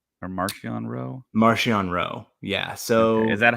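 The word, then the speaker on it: Marchion Ro: say marchionne as well at least in the audiobooks the official audiobooks is pronounced martian okay okay so yeah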